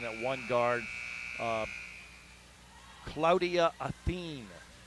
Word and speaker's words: Acin: Uh Claudia Athen, ACIN, but it's pronounced Athen.